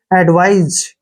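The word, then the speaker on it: advise: यह एडवाइस नहीं है यहां पर ए से ए हो गया डी से ड हो गया और वी आई से जो है वाई होगा और एसई का उच्चारण ज के रूप में करेंगे एडवाइज क्या पढ़ेंगे इसको एडवाइज एडवाइज होता है सूचना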